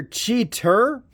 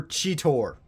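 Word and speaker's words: Cheetor: understood with the show they kept changing chidor's name it's either cheater or chitor like they switch between the pronunciations of especially chidor himself he'll usually go cheater maximize and then later on in the same bloody episode chitor maximize it's weird but anywho here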